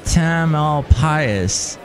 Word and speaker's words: Tamalpais: Does it rhyme with anything? Mount Tamalpais. I guess it could be like a pious pope, because they have all the Pope Pius this, Pope Pius the Seventh, Pope Pius whatever, and it could be Tamalpais.